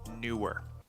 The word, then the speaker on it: NEEWER: why I decided to go with the brand NEEWER. I should check if that's how you pronounce that. I'm not great with names, so give me a second here. Okay, it's pronounced NEEWER.